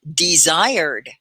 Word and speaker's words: desired: D-E, and then the S sounds like a Z. I, desired. And it's really just 2 syllables. The ED is not a desired. You don't have an extra ED, so it's desired.